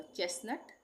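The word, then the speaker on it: chestnut: जैसे चेस्ट नट ये वाला ये वाला टी आएगा। इसको हम टी पढ़ेंगे। नट। यहां पे टी का उच्चारण नहीं होगा। चेस नट।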